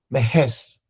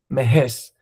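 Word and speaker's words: Mehesz: Cornell Zultan Mahes. M E H E S Z Mahes.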